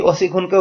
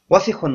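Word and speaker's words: وَاسِخٌ: তো সেই ওজনে এই অসিখুনকেও ফেলে দেয়, বলে অসিখুন অসিখুন। তো এটা ভুল উচ্চারণ, আপনারা এই ভুলটা করবেন না। অনেক ছাত্ররাই দর্শে দেখেছে ভুল করে, তো আপনারা এই ভুলটা করবেন না। এই শব্দটা দ্রুত পড়তে হবে, কোথাও কোনো মদ নেই, টান নেই।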